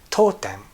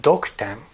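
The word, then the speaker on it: 読点: has a name and it is told them now it's spelled if this is your first time seeing this you might be tempted to read it doc them because of course this character for read usually contributes either yeoman or doaker this is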